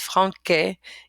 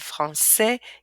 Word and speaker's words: français: Okay, that little wiggly thing causes for a k to be pronounced into a s. Okay, without it, this word would be pronounced franquet, garcon, le con, okay, facade, but with it, we have français, garçon, façade, leçon.